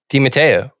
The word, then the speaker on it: De Matteo: last name on paper, how would you pronounce it? De Matteo. De Matteo, okay. Yeah. That's how you say it.